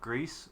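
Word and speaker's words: Gris: It's from the same team that made Greece or Greece. Grease G R I S, however you pronounce that. I don't know if it's French. It's Gree.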